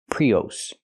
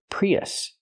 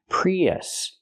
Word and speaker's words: Prius: It's not pronounced Prius. Prius. Toyota Prius. It's pronounced Toyota Prius. Use the short uh sound like cup and up. Us. Not o, but us. Relax. Us. Prius.